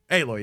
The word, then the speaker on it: Aloy: for no damn reason that's how you pronounce her name aloy yeah oh yeah she's